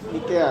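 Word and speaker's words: Nicaea: Nikea, bacanya Nikea.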